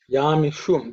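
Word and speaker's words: यामिषुं: Yamishum, this shu is sa, sha, which is pronounced with the tongue raised up, pointing up.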